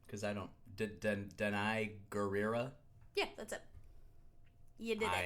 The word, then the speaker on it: Gurira: of wacky fake accent you know how to pronounce her name cuz I don't deny gurira yeah that's it yeah I am awesome yes